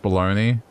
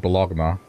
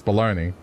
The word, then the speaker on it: bologna: word and I said bologna and the person looked at me and said it's baloney what it's baloney but it's spelled bologna yeah but it's baloney